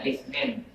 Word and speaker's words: Isnin: Senin, Isnin, padahal bacanya Isnin.